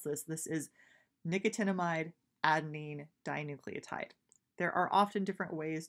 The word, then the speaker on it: nicotinamide adenine dinucleotide: in case you wanted to know how to pronounce this this is nicotinamide adenine dinucleotide there are often different ways to pronounce things that's how I'm gonna go ahead and do it is that nicotinamide adenine dinucleotide but we're gonna honestly just call it nad